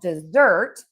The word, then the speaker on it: dessert: So, we have dessert and we are going to stress syllable number two because we eat dessert at the end of a meal.